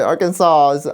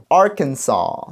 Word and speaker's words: Arkansas: Arkansas. Arkansas, not Arkansas.